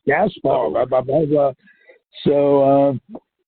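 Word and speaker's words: Gaspar: other non-med fans who pronounce this name Gasper all together it's gaspower blah blah blah so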